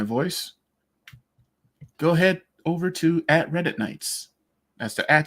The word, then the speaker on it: RedditKnights: go ahead over to @Reddit Nights. That's the @ symbol REDDITKNIGHTS. And yes, before you ask, the K is silent for Silent Nights.